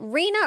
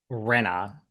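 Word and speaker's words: Rinna: Is it Reena or Rena? Rena.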